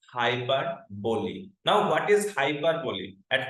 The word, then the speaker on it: hyperbole: is not hyperb because most of most of the students actually mispronounce the word hyper B no no no you may Google it and check it out the correct pronunciation of this word is hybo now what is hyperboy